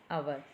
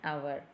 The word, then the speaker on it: hour: But here H is silent. So, we are pronouncing as our. O. So, O is a vowel sound. So, we have to write an before this hour. An hour.